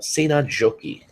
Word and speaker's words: Seinäjoki: Just as a starting tip, in Finnish, the J is pronounced like it is in German as a Y sound.